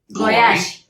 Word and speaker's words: Goyetche: Only if you pronounce it right. Oh, okay. Sorry, say it. Goyetche.